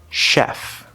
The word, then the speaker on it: chef: learn next time sometimes that combination ch is actually pronounced sh like in the word chef also sometimes the letter